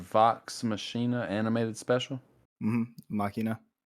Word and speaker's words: Machina: machina animated special mm-hmm machina that's how they say it in the anime it's really cool it's